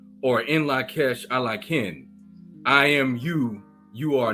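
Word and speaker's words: In Lak'ech Ala K'in: the greeting is pronounced as In Lakesh Alakin, or In Lakesh Alakin.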